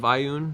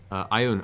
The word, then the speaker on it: Ioun: This is not the largely understood or most, commonly utilized symbol of Ioun, but it is a very ancient, the basis